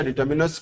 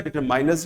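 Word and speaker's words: determiners: डिटर्मिनर means a word which डिटरमिन्स, सब गलती से कभी कभी आप प्रोनाउंस करते हैं डिटरमाइन, डिटरमिन्स होता है, डिटरमाइन नहीं होता, और डिटरमिनर्स होता है, डिटरमाइनर्स नहीं होता है।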